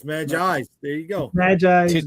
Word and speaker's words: Magi's: And it's pronounced Magi. I thought it was Magi's. Okay, so it's Magi's.